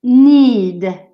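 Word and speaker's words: knead: see ish and pronunciation the first one is need mmm so you don't pronounce the king yeah no beat stirrer diced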